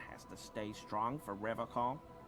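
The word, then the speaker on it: Revachol: But someone has to stay strong for Revacol. He pronounces Revacol with a hard K, unlike other people.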